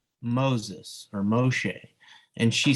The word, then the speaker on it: Moshe: zipporah uh anyways so moshe pronounced moshe uh which is from